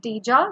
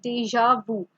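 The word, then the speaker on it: déjà vu: So this is not pronounced as deja, this is deja vu.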